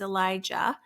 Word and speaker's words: Elijah: of similar um so this prophet's name is Elijah with a J ah and I'll emphasize it